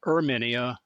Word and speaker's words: Herminia: first of all I'd recommend a book by herminia she pronounces it herminia first name h e r m i n